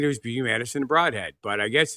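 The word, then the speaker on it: Brodhead: Well, it's pronounced Broadhead. Don't ask me why.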